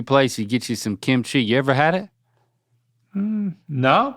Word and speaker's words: kimchi: it an I then you made it an a kichi you're still adding you're adding a vowel in the middle there's no there's it's only two syllables and this is good